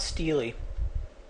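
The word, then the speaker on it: Steele: scores quote in 1995 two Stanford psychologists Claude stey that's how it's pronounced and Joshua Aronson demonstrated that African-American college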